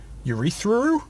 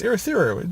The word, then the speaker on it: Urithiru: And, oh, by the way, some people pronounce it Urithiru, and I'm like, good lord, like, it's not urethra, like, no, it's Urithiru.